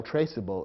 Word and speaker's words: traceable: the resulting word and if you eliminate the silent e from traceable the word might look as though it should be pronounced trackable which would be incorrect so the silent e